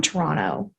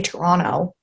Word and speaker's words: Toronto: where i get upset no one no one who is from toronto pronounces the second t no one zero people